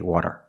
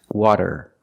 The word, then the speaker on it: water: not the same sound if you pronounce the fast D D D D D as a rolled R you will have an accent people will probably understand you but it's not correct we cannot say water it's water water use a fasty we cannot say